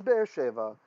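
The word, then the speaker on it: באר שבע: Well, it is Be'er Sheva, but this is in pause. And in the ancient text, one word in each clause gets a louder pronunciation than the rest.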